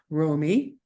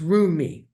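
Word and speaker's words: Roumie: the name of Jonathan Romy who I think no actually I think I'm spelling I'm saying his name wrong it's uh it's room me yeah Jonathan yes and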